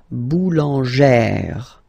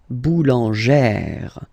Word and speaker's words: boulangère: Remember, when you've got this E plus this accent grave, you pronounce it like E, really open E sound. Okay, so boulanger, boulanger, and then feminine form, boulangère, boulangère.